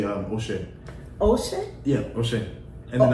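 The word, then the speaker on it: ẹ ṣé: If you say thank you in Yoruba, you would say Oshe. Oshe? Yeah, Oshe. And then I would say Kodo. Spell it for me, because I need to know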